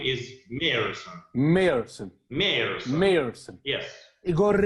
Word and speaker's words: Meerson: So you pronounce it as Meerson. Yeah. But just let's pretend that between these 2 E, Yes. there is Y. Okay. So my name is Meerson.